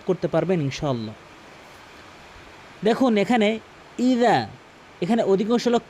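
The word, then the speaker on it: إِذَا: দেখুন এখানে ইজা এখানে অধিকাংশ লোক কি বলে জানেন? ইজা ইজা মানে জালের জায়গায় জিম এনে এনে উচ্চারণ করে।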